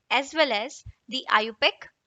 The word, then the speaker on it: IUPAC: the second one is iupac system it is pronounced as iupac system trivial system is the oldest system of